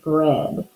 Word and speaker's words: bread: it stuffed correctly because there are silent letters that we don't hear which in the word bread is one of them there's an A in there that you don't hear but you could always